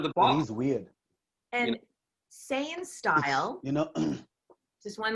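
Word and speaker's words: Seien: And Saiyan Style, you know, just one more thing about Saiyan Style, which is Anne Marie's company.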